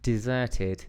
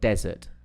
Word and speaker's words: desert: Escape basically missing right then you got desert so they look similar desert desert so I'm I'm using the the dash and and uh and the dilder what what is that called again is that a dash as well what is it called again can't remember now forward slash a slash we using the slash to show you the first one right the slash Dum D desert D desert so if you want